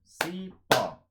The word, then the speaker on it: cipó: Oxítonas. A última sílaba é tônica, então você conta cipó, cipó.